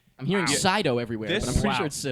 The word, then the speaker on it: Sydow: Boyega, Daisy Ridley, Adam Driver, Oscar Isaac, Andy Serkis, Domhnall Gleeson, I think that's how you pronounce it, Yep. and Max von Sydow. I'm hearing Wow. Sydow everywhere, This- but I'm pretty Wow.